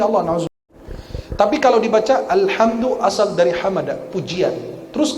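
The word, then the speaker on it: الحمد: Alhamdu asal dari hamada, ha mim dal, pujian. Kalau dibacanya hamada pakai ha, maka orang harus perjelas kalau baca Al-Fatihah. Alhamdu pujian. Kalau alhamdu pakai ha, kematian. Batal sholat kita.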